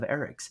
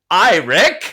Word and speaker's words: Eric: Despite its seemingly simple spelling, Eric is often mispronounced as Rick. Nope. No, it is not. Not once in my life has anybody ever been like Rick Curtis. It's not a thing. Or Ear Rick.